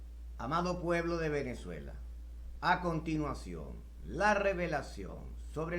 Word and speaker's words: Venezuela: divino del nombre de venezuela está escondido en las sagradas escrituras debemos preguntarnos desde cuando venezuela escribes tu nombre con la violenta pero lo pronuncia con be labial en este orden de